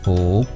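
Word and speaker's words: 福: In Chinese, it's pronounced Fu.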